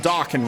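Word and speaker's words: Dokken: and you guys know the band Dawkin, right? Rhymes with rockin'.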